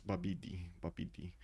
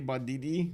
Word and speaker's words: Babidi: Babidi. It like in my mind, whenever I take a look at that, I want to say Badidi, not Babidi.